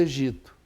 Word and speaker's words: Egito: A mesma coisa Egito. Agora, quando a criança ouve egípcio, ela ouve o P, então ela pronuncia o P.